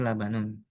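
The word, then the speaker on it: لبن: Lam, ba sama nun berarti labanun. Nah, jadi pas dicoba untuk teks gundulnya bisa insya Allah.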